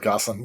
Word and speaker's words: Gosselin: My name is Goslin. Well pronounced by the way.